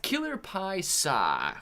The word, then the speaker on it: Killer Paisa: man what's up clay my name is pronounced killer paisa killer pie saw well killer pies saw